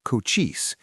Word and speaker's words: Cochise: Born around 1805 in the Draon Mountains of what we now call Arizona, Coochis, pronounced Coochis, meaning hardwood in Apache, grew up in a world of balance.